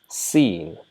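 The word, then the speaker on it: سين: Sheen. Just like we pronounce seen in English, right? S-E-E-N is an English word which is pronounced as seen, and this is exactly the name of the letter Sheen.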